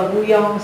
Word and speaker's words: bouillon: Cái này là từ gốc Pháp, bouillon, đọc là bouillon là cái mình hay gọi nên là nước dùng á, nước lèo á.